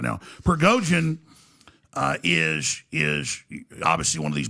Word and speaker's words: Prigozhin: Prigozhin, yes, Prigozhin, if I'm saying it right.